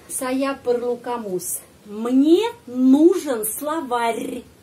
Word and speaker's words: словарь: Мне нужен словарь, словарь, ya pengucapannya penting dalam bahasa Rusia, bukan словарь. Jangan ignore ya, jangan ignore tanda pelemah.